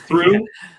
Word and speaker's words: through: different ways right yes in this case it's pronounced ooh so through and through and throughout yeah yeah